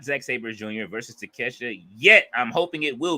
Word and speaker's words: Takeshita: Fletcher says Takeshita not take a shitter.